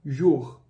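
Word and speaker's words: jour: com a letra O no começo então ficaria u como por exemplo na palavra Jor Jor que significa dia em francês e a junção dessas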